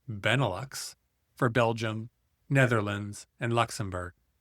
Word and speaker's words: Benelux: Benelux, pronounced Benelux, for Belgium, Netherlands, and Luxembourg.